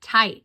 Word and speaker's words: tight: Now I will tie it tight." And look at that word tight. The GH is silent in the middle.